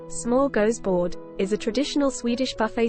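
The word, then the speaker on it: smörgåsbord: or holiday spread Smorgasbord a smorgasbord pronounced small goes board is a traditional Swedish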